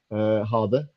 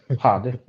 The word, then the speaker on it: hade: Hade. Hade. Okay. Hade. I need to understand that stuff because when I see these Scandinavian chicks on Hunyan Canyon and stuff, I'm gonna be like, Hade.